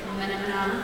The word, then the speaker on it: Funomena: It was Funomena, which rhymes with Funomena.